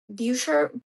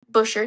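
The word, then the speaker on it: Buescher: Bucher, I always say his name wrong. Busher, thank you. It doesn't look like it should be Bush, and that's what freaks me out.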